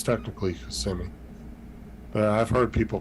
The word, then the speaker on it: Kissimmee: Some people pronounce it like that, but it's technically Kissimmee. But I've heard people pronounce it Kissimmee.